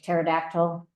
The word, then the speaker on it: pterodactyl: say the second P it's like pterodactyl it has silent P I don't know why